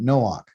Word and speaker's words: Noach: So this first word here is no ak. Not like no brother, but noach. Okay.